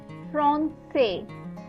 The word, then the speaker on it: français: Say with the cedille below it, which is pronounced as sir. So whenever you put a cedille below the say becomes sir. The sound pronunciation of that becomes sir, right?